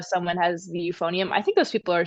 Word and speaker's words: euphonium: Um, they they asked in the chat, have anyone heard of how do you pronounce that? Euphon ephonium. The euphonium.